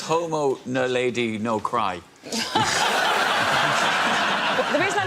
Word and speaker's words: naledi: The Homo naledi, or naladi. Nadali.